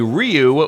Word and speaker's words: Riou: 2 community, and that would be Ryu, which is spelled R-I-O-U.